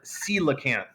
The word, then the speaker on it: coelacanth: You pronounce this word coelacanth.